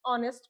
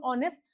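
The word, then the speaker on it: honest: हमने previous class में भी यही देखा था कि जो ऑनेस्ट शब्द है उसमें एच हमारा साइलेंट हो जाता है। तो जब इसको प्रोनाउंस करते हैं तो ये बनता है ऑनेस्ट।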